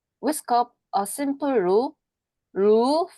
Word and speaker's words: roux: roux, for example. 루라고 읽어주셔야 돼요.